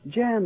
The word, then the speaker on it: Jan: pronounce that, Jan? Jan, that's right.